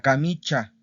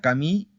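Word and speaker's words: camicia: Esta es otra de las excepciones, porque no se dice la camicha, ¿ok? No se dice la camicha. Perdón, no se dice la camichia, la camichia. No, se dice la camicha, ¿ok? La camicha.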